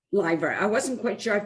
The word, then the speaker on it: Lyver: It's Lyver. Lyver.